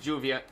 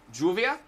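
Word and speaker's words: lluvia: was on mayorkian first I was taught it was like the Double L but then I've heard some people pronounce it as Juvia with a hard J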